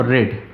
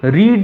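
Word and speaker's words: read: सिर्फ क्या बढ़ाना है, सब्जेक्ट के बाद बीन और वर्ब की थर्ड फॉर्म रेड। देखो रीड, रेड, रेड पढ़ते अलग हैं, स्पेलिंग हर बार सेम होती है।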